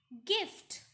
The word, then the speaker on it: gift: Gift, again G and not J. Tiger, it should have been tiger, but the pronunciation is tiger.